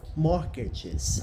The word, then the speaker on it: mortgages: Mortgages. Acho que é mortgages. Você não pronuncia o T. Mortgages, lembrei, é isso mesmo.